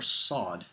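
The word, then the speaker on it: ص: gives our next letter sod this is pronounced like the strong s sound in sauce and all these letters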